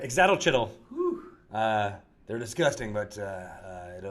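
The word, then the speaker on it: ixitxachitl: It's a itzalcoatl, or how do you pronounce it? Hold on one second. Exatochytl. Wow. What Greg Billsman said. Exatochytl.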